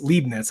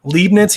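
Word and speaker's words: Leibniz: was leaden lemony Leibnitz Leibnitz that's how you say it lead Nats he's one of the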